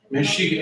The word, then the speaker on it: Mexica: Mexica, M-E-X-I-C-A, M-E-X-I-C-A, and I'm pronouncing the X as an S-H. Mexica.